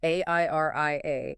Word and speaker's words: Airia: AR AAA, that's pronounced A I R I A, is the control plane for this new reality.